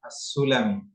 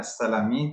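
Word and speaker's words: السلمي: Hadisnya adalah hadis Abi Qatadah As-Sulami. Tertulis di sini barisnya As-Salami, tapi bacanya As-Sulami.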